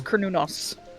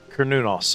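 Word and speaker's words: Cernunnos: So, um, oh, by the way, I found I found the correct pronunciation. And by correct, I mean the original Celtic pronunciation. It's Kernunos. Kernunos.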